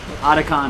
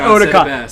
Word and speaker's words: Otacon: Otacon, not Otakon. Otakon is the convention.